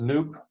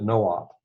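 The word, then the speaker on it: noop: name of it here you could pronounce it nuke but I'm old school so I'm going to pronounce it no op because that's essentially what it is right it comes from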